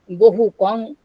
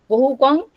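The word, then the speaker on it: bahukaṃ: But in Prakrit, we find the word Bahukan becomes Bahukang. Bahukang, here, main accent is shifted on the second syllable from the third syllable, making the word Bahukang.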